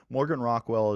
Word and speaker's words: Morgan Rockwell: And for those of you that are listening to just the audio right now, Morgan Rockwell is Morganrockwell. So it's spelled phonetically just how it sounds.